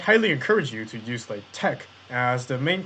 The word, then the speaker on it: LaTeX: mathematical text happens to be latex which is pronounced as Slade Tech I would in fact highly encourage you to use like Tech as the main pronunciation just so you don't